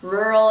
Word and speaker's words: rural: And for that one, you want to sort of blend the R into the L.